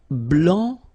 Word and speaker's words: blanc: here, okay, so here, masculine, blanc, don't pronounce the final C, and then blanche.